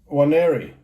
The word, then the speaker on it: Nwaneri: Nwaneri.